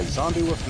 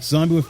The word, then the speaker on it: Xombiewoof: Now, as you know, the magazine's called Xombiewoof, spelled with an X. But everybody keen thinks, zombie with a Z because of the whole Undead craze that's going on.